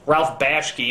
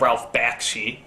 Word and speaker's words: Ralph Bakshi: there for whatever reason i could never quite pronounce correctly like judge hirsch instead of judd hirsch ralph bashki instead of ralph bakshi but the biggest one people seem to harp